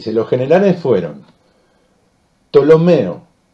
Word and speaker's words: Ptolomeo: se los generales fueron ptolomeo que se escribe con p p al principio pero no se nombra sería ptolomeo todo lo menos todo